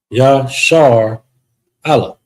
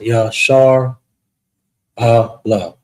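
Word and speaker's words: ישראל: So how you would pronounce it is Shar. Shar. All right. And we're going to put a little frowny face here to help you indicate that this is a standalone syllable. Also with the and the La. Yah, Shar, Allah.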